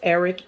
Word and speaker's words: Arik: the ticket scam alert Eric is spelled aart i k so it's Eric air that is a Nigerian